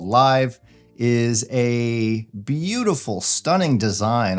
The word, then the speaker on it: LAiV: so the live DC you spell it lav but it's actually called live is a beautiful stunning